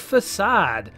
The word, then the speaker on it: Façade: I'm your host, Gaming Jay, and today we're hopping into the pseudo-realistic world of Façade.